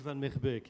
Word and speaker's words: Vanmeerbeek: Je vous le reprononce, je m'appelle Van Merbeek et vous pensez bien qu'avec un patronyme comme ça, je ne suis pas le régional de l'étape.